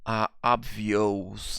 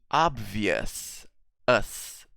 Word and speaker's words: obvious: other adjectives with these oh you s sound at the end okay so repeat after me obvious obvious okay don't say obvious no say obvious us okay so the situation